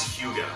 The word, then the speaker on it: hygge: or higgy there's actually it's pronounced as hugo hugo why why do we pick hyuga as the name it's